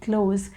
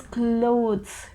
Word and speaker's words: clothes: they speak very quickly they tend to pronounce it like close but it would be more appropriate to to get that slight th sound at the end so it is clothes clothes is more appropriate to say so in